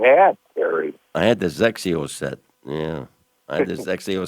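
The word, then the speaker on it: XXIO: Doesn't it start with an X? Exios. Perry calls them Sexios. No, Zexios. I've been trying to pay attention to Trey.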